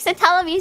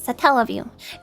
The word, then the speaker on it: Satellaview: I've only ever heard it pronounced the way you pronounce it, Satellaview. The thing is, it's based on satellite, so I'm like, Satellaview? I think it's Satellaview.